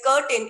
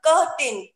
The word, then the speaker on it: curtain: is curtain not curtain curtain we should not pronounce it as curtain it should be pronounced curtin the next word is buffet buffet when we